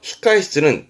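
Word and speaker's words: 控室: 그래서 히카에시츠는 대기실을 히카에시자입니다.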